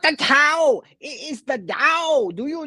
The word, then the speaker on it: Dao: will not change it's Dao it's pronounced the Dao it's the way uh and if you